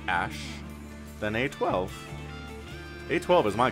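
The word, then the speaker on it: Æ: just x and then the a e is pronounced like ash then a12 a12 is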